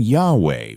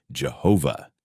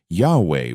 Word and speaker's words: Jehovah: the King James Bible the only problem this is not the correct pronunciation of the Divine name and in fact it has no basis in the original Hebrew language Yahweh was lost and Jehovah